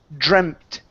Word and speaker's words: dreamt: Let's go to the word dreamt. Dreamt. So this is going to be a short e sound instead of dreamt.